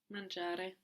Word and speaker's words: mangia: Mangiare. Mangiare. He or she eats a lot. Mangia. Mangia molto. Mangia molto. Good. And mangia is spelled M-A-N-G-I-A. No, so again, G-I just giving us the soft J.